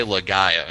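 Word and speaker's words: Laga'aia: I was trying to preparing myself to pronounce his last name because there's about 30 vowels and it's Jay Lagaya is how you pronounce it.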